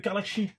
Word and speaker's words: Karlaxy: Ah, quand on prononce Carlaxi, on dit Carlaxi.